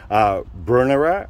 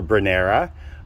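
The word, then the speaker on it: Brunnera: Brunera or Brunera, whichever way you choose to pronounce it, I'll understand what you're saying.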